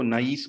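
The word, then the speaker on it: niece: इसको नाइस बोलते हैं, आई को अपने प्रोनाउंस करना है, नाइस नहीं बोलते, नाइस अच्छा होना होता है, नाइस जो है नाइस बोलेंगे इसको, ये भतीजी है।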